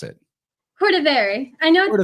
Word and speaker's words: Cordivari: How do you pronounce it? Cordivari.